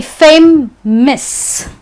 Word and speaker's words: famous: Now, words ending with OUS won't be pronounced as aus. It will be pronounced as iss.